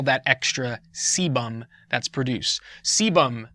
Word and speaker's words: sebum: Sebum, not a lazy sailor.